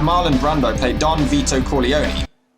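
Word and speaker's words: Corleone: Brando play Don veto Kone or Kon the pronunciation changes throughout the whole movie why don't you say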